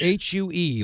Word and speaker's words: Hue: Do you spell that H-U-G-H? H-U-E, like the color, Hue.